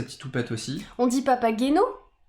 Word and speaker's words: Papageno: houpette aussi on dit papageno on dit papa genot papageno mais ça peut être papa guaino avec grand plaisir je